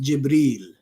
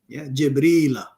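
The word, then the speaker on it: جبريل: his name is jibril in arabic the word gabriel is pronounced jibril jibril in some places so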